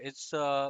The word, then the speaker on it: hay: I, that is Hay, and in Spanish you will say Hay, I. So that's how it's pronounced. So if you think about the word I in English, like the I, on your face.